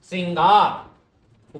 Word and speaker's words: श्रृंगार: तो इसका सही उच्चारण है श्रृंगार। स लिखा, उसके नीचे री की मात्रा है, साथ में र नहीं है। ये है शुद्ध स्वरूप इसका, श्रृंगार, ऊपर अनुस्वार है।